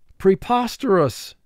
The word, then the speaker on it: preposterous: And this is a four-syllable word. First syllable, pre, three sounds, p, r, e. Pos, three sounds, p, a, s. Ter, two sounds, t, er. Us, two sounds, a, s. Pre, pos, ter, us. Mark the word.